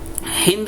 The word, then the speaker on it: हिंद: करके आते थे, तो सिंध को वो बेसिकली हिंद कहा करते थे, क्योंकि सा को हा जो है प्रोनाउंस करते थे।